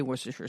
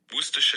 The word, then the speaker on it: Worcestershire: let everybody know here is how you say Worcestershire sauce Worcestershire sauce so there you go you don't have